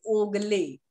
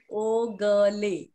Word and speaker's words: Ogle: So first of all, Anirban, it's a nice introduction, but you have to just pronounce his surname is Ogle. Huh? Ogle.